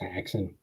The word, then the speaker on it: Häxan: Do you pronounce the umlaut at all? Am I like missing it? Do you know? We haven't been using it, but I mean, it's Haxen.